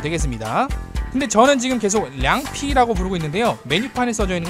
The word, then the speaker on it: 凉皮: 근데 저는 지금 계속 량피라고 부르고 있는데요. 메뉴판에 써져 있는 건 량필이라고 써져 있거든요. 이게 량피가 중국의 북방에서는 량필 이렇게 발음이 돼요.